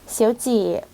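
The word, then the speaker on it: 小姐: เงิน คำ ถัด ไป ค่ะ อ่าน ว่า เสียวจ เสียว เจี่ แปล ว่า คุณ ผู้ หญิง เจี่ ตรง นี้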